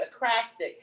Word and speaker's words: ekphrastic: And I just learned something new, ekphrastic. How do you spell it though?